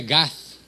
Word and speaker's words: Gath: Y se escribe Gath, se pronuncia Gat, Goliat.